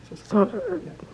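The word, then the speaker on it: Süskind: Susskind.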